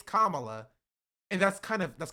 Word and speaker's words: Kamala: For Kamla, it's like, say my name correctly. It's Kamala.